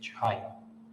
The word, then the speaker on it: chi: as this okay that is coarse angle chi pronounced as chi all right this coarse angle is defined as